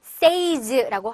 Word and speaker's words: says: 제가 경험상 이거를 says라고 하시는 분 많이 봤거든요. 여기서 이 y 발음이 안 나요.